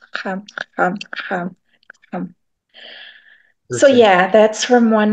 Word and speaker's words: Kxam: But the way you pronounce it is Xam. So the click starts at the front of your mouth, but then it ends at the back. Xam.